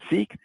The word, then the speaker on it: SEAC: That's the SEAC acronym, we pronounce it SEEK, that stands for Sustainability External Advisory Council.